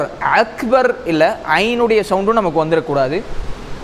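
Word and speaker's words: أكبر: அப்போது இப்போ அல்லாஹு அக்பர் அல்லாஹு அக்பர், அக்பர் அப்படின்னு சொல்லி நம்ம ஒரு வைப்ரேஷன் கொடுத்து நம்ம சொல்லிடக்கூடாது. அக்பர் அப்படிங்கிறதுல அக்பர் அவ்வளோதான். ஒரு நார்மலாக ராவுடைய நிறுத்தும்போ நம்ம நார்மலாக நிறுத்திடணும்.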